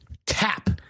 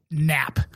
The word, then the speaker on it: Kapp: the name our guests Juwan tap not nap so it's K a PB you idiot super get